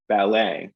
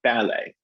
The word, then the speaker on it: ballet: see a ballet right so in u.s english we hit the second syllable in both of those words cafe ballet they they're longer um in terms of the time they take up and i tend to shift my pitch on those as well but um when we head over the atlantic we switch to the first syllable and it becomes cafe and ballet um which i find